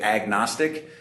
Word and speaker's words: agnostic: it other places but in America we say agnostic which I think it should actually be pronounced a gnostic right because Gnostic means to to know right gsis is to know right it's a greatek